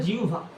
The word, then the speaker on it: জিহ্বা: এটা চার নাম্বার জিওভা জিউভা উচ্চারণ হলো জিউভা ওকে এই জিউভা আমাদের